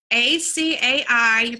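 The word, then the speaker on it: açaí: bowls and I are fabulous it's well the ACA I probably seen it it's a type of fruit lot of people mispronounce it that I have learned here in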